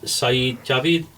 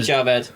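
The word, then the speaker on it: Sajid Javid: One was Saeed Javid. Close enough, Am I saying Sajid Javed.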